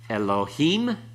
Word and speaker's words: Elohim: all right all right Elohim Accent on the last syllable becomes what it changes